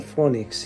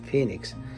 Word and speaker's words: Phoenix: and then he goes That's not phonics he loves roster Anthony he goes that's not funny that's Phoenix and that's how I